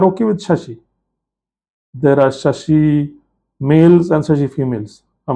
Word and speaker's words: Shashi: But there they use the Sanskritized form of the name, that is Shashi. And that they spell it s h a spell it as s h a s h i.